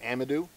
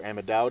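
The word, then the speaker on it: amadou: shelf the inner rind is called amadu or amod depending on who you're pronouncing it from and that is actually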